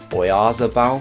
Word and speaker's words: Oyarzabal: Yeah, Oyarzabal, I think it's pronounced, 1.3k there.